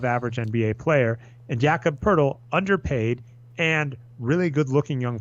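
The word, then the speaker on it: Pöltl: demar derozan and Jakob I can't believe that is how you say it is Pirtle like I could act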